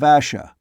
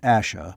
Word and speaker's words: Ash: I am a kin of Asha. We return to the hill. Ash. Not Asha, but Ash. Ross, though sure of that pronunciation, was still cautious.